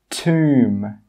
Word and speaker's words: tomb: The first rule is that if a B comes after an M at the end of a word, it's normally not pronounced. Some common examples are climb, crumb, tomb, bomb, comb. You can see here that in all of these words, we do not pronounce that final B sound.